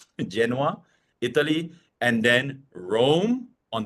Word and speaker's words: Genoa: Starting with Genoa in Italy. I think that's how you pronounce it without the V. Genoa, Italy.